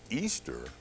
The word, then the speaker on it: Ishtar: The name Ishtar, spelled I-S-H-T-A-R, pronounced Easter, literally was the name of the pagan virgin goddess of spring.